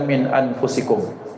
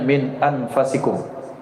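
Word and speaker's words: من أنفسكم: jaakum rasulum min anfusikum maka dalam qiraat yang masyhur dibaca min anfusikum walaupun ada sebagian qiraat membacanya min anfasikum jadi ada dua secara membaca. Tapi yang paling masyhur min anfusikum.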